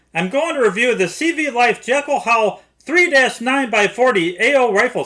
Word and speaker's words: CVLIFE: the brand name is pronounced CV life without pause between CV and life